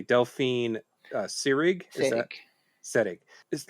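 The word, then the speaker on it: Seyrig: but uh yeah how did you uh you pronounced her name correctly Delphine uh sirig setting just like Ingrid pitch she kind of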